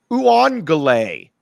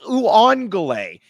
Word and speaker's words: Uiagalelei: Tai Uiagalelei, not hard to pronounce. Uiagalelei. What is Uiagalelei?